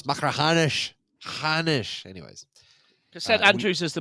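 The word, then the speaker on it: Machrihanish: YouTube channel macaran because we kept pronouncing oh yeah macraish and it's like no it's macraanish.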